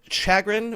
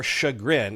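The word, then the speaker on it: Chagrin Falls: included a younger brother moved to Chagrin or shagrin it's spelled shagrin but Chagrin fall Ohio I think which is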